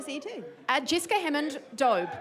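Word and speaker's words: Doube: Jessica Hammond, Dobe. Like robe. Rhymes with robe.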